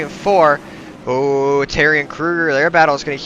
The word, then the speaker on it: Kruger: he's k-r-u-g-e-r-i-m-k-r-u-e and g-e-r but my last name gets pronounced Krueger probably more than his does that's gonna bring it